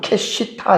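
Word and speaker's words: קשיטה: 그렇지만 내가이 땅을요 부분을 내가 돈을 주고 사겠다라고 하는 여기서 크시타라고 하는 말이 있어요. 크시타에 히브리어로 보면 캐시타 이렇게 됩니다.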